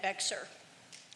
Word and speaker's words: Bexar: when I go bowling at Bexar, which is also in Bear County. We pronounce it differently.